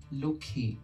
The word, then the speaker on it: Lakshmi: Take for example the word Lakshmi in Hindi. This word is pronounced as Lokhi in Bangla.